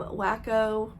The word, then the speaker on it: WaCo: were getting there um wacko as they call it it's spelled like Waco wac o um it was the